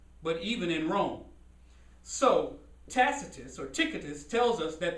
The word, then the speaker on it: Tacitus: a dude named tickatus it's spelt t-a-c-i-t-u-s it could be tacitus i'm not sure how they pronounced it back then but anyway he was an ancient historian who lived um a.d 64.